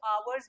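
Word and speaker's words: hour: next step क्या देखोगे कि साउंड कैसा आ रहा है आवर का अ वाला साउंड है पहले एच साइलेंट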